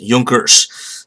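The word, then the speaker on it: Junkers: Nobles were known as Yonkers with a J the J is silent in German so Ju NK ers laugh one day she had spelled but it's pronounced Yonkers so he came from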